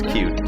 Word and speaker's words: Qt: It's spelled Qt, but the official pronunciation is Qt, so bear with me as I'll use that.